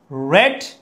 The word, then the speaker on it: read: রেড আ news paper. রেড কোথা থেকে এসেছে? রিড থেকে এসেছে. রিড রেড রেড. ওকে, স্পেলিংটা দেখতে একই বাট the pronunciation is different, উচ্চারণটা ভিন্ন. ওকে, তাহলে রিড হচ্ছে ভার্ব 1.